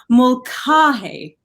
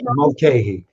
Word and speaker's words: Mulcahy: We have Mulcahy. That's how they say it in Ireland, actually. Did I say it? Mulcahy. Mulcahy.